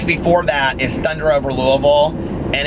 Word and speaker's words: Louisville: it a thunder and it's not Louisville its Louisville which I learned because I it's like